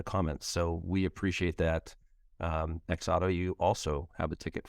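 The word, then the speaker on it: XOTO: wondering how you actually pronounced the name, and, it's spelled X-O-T-O. And Julia actually got it right. She said X Auto. And they just confirmed it in the comments. So we appreciate that. X Auto, you also have a ticket for you for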